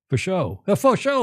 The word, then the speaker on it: Faucheux: Faucheux, like for sure, Julia.